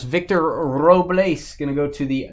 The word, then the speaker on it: Robles: Roll your R's. Victor Robles going to go to the Nationals.